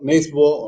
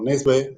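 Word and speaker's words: Nesbø: este autor noruego, yo, Nesbo o Nesbe, debe ser esa O con palito, como la de Peter Hecht, se pronuncia como una E.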